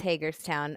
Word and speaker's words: Hagerstown: Is that how you pronounce it, by the way? Hagerstown. Yes, it's Hagerstown.